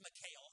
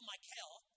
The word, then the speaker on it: Michal: Here's Michal, I believe that's the way, Michal, I believe is the way you say her name.